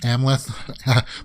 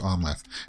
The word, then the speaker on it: Amleth: we'll walk through this so alexander skarsgard is omleth um it's i always pronounce it amleth but it's amla it's pronounced omleth and i think he goes by another name